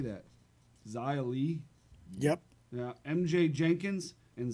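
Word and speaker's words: Xia Li: Zia Lee.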